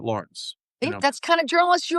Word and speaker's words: Lawrence: Lawrence, But there's media outlets who do call him Lorenz. But because you're the guy. but he told me he pronounces it Lawrence.